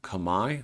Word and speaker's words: Khmer: speak a language called Kamai I know it's spelled Khmer Khmer but it is pronounced Kamai and jayavarmon here he